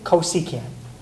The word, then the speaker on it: cosecant: So then CSC, but You want to tell her, how do you pronounce CSC? I don't know. Cosecant. Okay, cosecant. So secant of 40 is